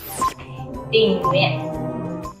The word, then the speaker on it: tình nguyện: But actually, the last letter is T. But in Vietnamese, if the tone is noun, like the sudden stop, T will become like, the pronunciation will become like N.